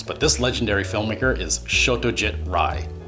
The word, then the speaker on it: Satyajit Ray: this legendary filmmaker is Satyajit Ray. The Bengali and Sanskrit pronunciations of his name are quite different, and I know that a lot of English-speaking film buffs have always pronounced his name Satyajit Ray.